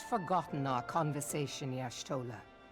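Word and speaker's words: Y'shtola: Yashtolah. Yashah man bears part of the blame for the primal's existence. Bro, that pronunciation was so much different than my ishtoah.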